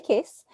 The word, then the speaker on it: Cais: my name is case and my last name is spelled a little weird it's c-a-i-s instead of case but it's pronounced the same i've been working in